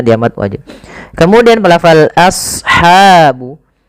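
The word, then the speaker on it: أصحاب: Kemudian pelafal ashabu. As-sad, ya, huruf sad tebal, jangan as, jangan sin, tapi as ya, a-nya tipis, sadnya tebal.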